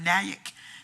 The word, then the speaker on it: Nyack: On the first day of school, the first day of Black History Month, Nyack, am I pronouncing that right? Nyac, it's like Mac, but Nyack.